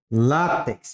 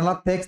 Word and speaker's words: látex: É látex ou é latex? Látex. É látex que fala, não é latex, não, tá?